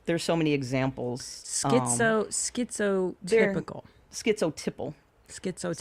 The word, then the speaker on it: schizotypal: Schizotypal. Schizotype. So you type of have, it's tipple. Tipple. Just the way it's pronounced.